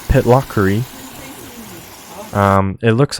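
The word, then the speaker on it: Pitlochry: different country and then this town was called pitlockery um it looks like it's pronounced pitlacree but it's pitlockery here's a river um any water it's pretty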